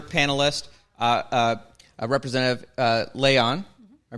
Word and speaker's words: Layon: of our other panelist uh uh representative uh Leon I pronounced that right yes did who uh I'll